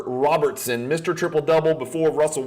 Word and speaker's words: Robertson: I'm not sure why mispronounce his last name Robinson please get it right it's not Frank Robinson it's not Brooks Robinson it's Oscar Robertson Mr triple double before